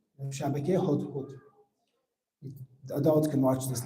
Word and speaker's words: hudhud: And I think the English, you pronounce it as hoto. There's different ways to express it, hoto.